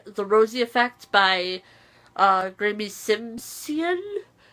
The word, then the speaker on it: Simsion: rosy effects by graeme simsion I always mispronounce that I always say Simpson for some reason I think I said it right this time but this is pretty